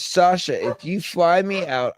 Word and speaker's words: Sacha: send me a message it's Sasha s is is how my name's actually spelled but I use the yes so people understand how to say it Sasha I get a lot of satches or people put the s in anyway so yeah